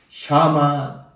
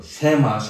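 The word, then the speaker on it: שמע: 샤마 이스라엘 그렇죠. 일반적으로 쉐마 하는데 정확한 발음으로 샤마.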